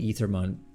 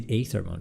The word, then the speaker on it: Aethermon: Yeah, so I think typically the pronunciation for the AE hyphen letter would be Aethermon, but we've been leaning towards Aethermon in part because it reads slightly better for a modern American audience, and more than that